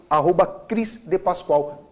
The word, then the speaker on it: Cris d Paschoal: Ou @Cris de Pascoal, Cris, C-R-I-S, D mudo e Pascoal, como a empresa de Pascoal.